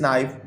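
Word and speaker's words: knife: फिर second statement देखें, please give me this नाइफ। अब इसमें गिव में ई साइलेंट है, नाइफ का के साइलेंट है।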